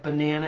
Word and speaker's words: banana: So like banana is a really great example. Banana, kids will want to do one syllable plus two. Banana, right? But if you're saying banana, you don't say, I'd like a banana. You say, I want a banana. And where the emphasis falls, where you really put